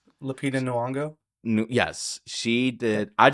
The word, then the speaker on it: Lupita Nyong'o: I think my favorite aspect was the voice acting and just how Roz, um Lapinta Nioga, I always say her name wrong. Lupita Nyong'o.